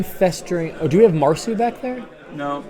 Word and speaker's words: Marcu: Marcu, M-A-R-C-U, Marcu. Kind of like Cyprian. It's spelled with a C, but it doesn't make a K sound. It makes an S sound, just like Marcu.